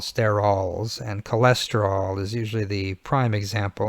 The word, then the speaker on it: cholesterol: familiar with a very important sterol known as cola sterile now we pronounce it cholesterol like a normal human being but is an